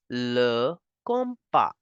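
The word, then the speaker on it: le compas: in French simply as L compa comp P simply as L compa the s in the end is again for decoration I repeat these words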